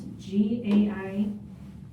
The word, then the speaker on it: Gaijin: He was at the station for the restaurant, I think it's called Gahin, I think is how you say it. It's Gaijin, and this is a Korean place in the West Loop.